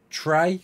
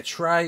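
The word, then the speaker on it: Trese: It's called Trey, was it? Yeah, Trey or Trey. Yeah, it's spelled T-R-E-S-E.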